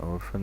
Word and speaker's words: orphan: PH is pronounced as F. Okay, an orphan is a person, a child whose father or mother or both died.